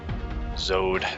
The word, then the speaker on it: Zode: Zode. It's honestly one of my favorite usernames I've run into in the ASL. It's so, like, the one syllable is great, and it's nice.